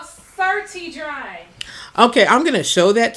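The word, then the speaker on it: Certi Dri: your head like it's Certain Dry, like it's like deodorant, but you just put it on your head and it'll work. Certi Dry. It's not certain, it's certi. It's spelled CERTI, then DRI.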